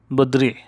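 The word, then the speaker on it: بدري: তেমন বদ্রি, বদ্রি অর্থ তাড়াতাড়ি, দ্রুত, বদ্রি উচ্চারণটা এরকম হবে বদ্রি মানে তাড়াতাড়ি।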